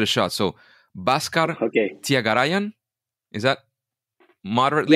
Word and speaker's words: Thyagarajan: shot so bascar okay tagayan is that moderately yeah you got it right except that the J is pronounced as J so tagar Rajan okay okay so not